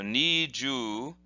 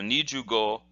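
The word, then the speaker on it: 二十五: look like this and they'd be pronounced as follows nee then jus long you sound so niju and then go which is is a short o sound so needs you go and again the word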